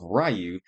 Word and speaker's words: Ryu: This is a t-shirt of Rayu or Ryu, depends on how you pronounce it, throwing a H hadukan bouquet to his secret love, Chun Lee.